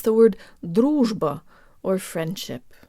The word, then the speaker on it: дружба: Russian R's are actually a lot easier than people think. Let's say the word dittO really fast. dittO. dittO. It almost helps to think of the two T's as a D sound.